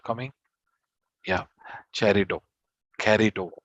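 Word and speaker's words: χαριτόω: Yeah, charito, carito. They pronounce it carito.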